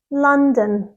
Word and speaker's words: London: of this word is London London the stress is on the first syllable and the second syllable is really soft and quick so it's D D